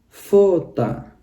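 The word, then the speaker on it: фото: perhatikan lagi di sini ada dua huruf o tapi huruf o yang pertama yang mendapat tekanan maka yang ini yang terakhir kita bacanya jadi a kita baca jadi fota ya fota Kalau yang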